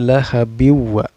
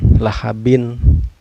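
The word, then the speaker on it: لَهَبٍ وَ: ke bau ya Hai Bukan lahabin bukanlah habin ya cara bacanya tapi harus dimasukkan lahabiw lahabiw memasukkan sambil berdengung lahabiw watab Waterpark ini dihukumi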